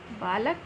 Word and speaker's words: बालकः: बालक संस्कृत में बदलने के लिए क्या करना है? केवल ये दो बिंदी लगानी है, जिसे हम विसर्ग कहते हैं, और इनका उच्चारण होता है ह, यानी ये बालक, बालकः।